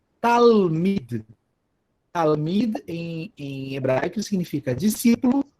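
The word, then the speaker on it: תלמיד: Talmid.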